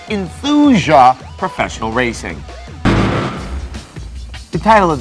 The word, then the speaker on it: Enthusia: of the game with a title that sounds way too much like euthanasia it's enthusia professional racing the title